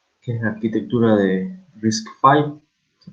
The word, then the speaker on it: RISC-V: bien a fondo, que es la arquitectura de RISC-V, se pronuncia.